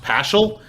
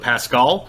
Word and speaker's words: Paschal: We believe, actually, I guess his last name is pronounced Paschal instead of Pascal, which is very confusing for us as we're just trying to read about this.